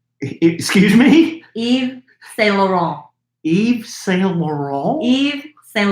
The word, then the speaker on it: Yves Saint Laurent: I to this day, I don't know how to pronounce them. Like what? YSL. That's Yves Saint Laurent. Excuse me? Yves Saint Laurent.